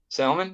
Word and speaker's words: salmon: uh translucent you really you really um pronounce the L and salmon huh salmon yeah I think why should I not I don't know I just think that's unusual in Wisconsin I think most people just say salmon oh well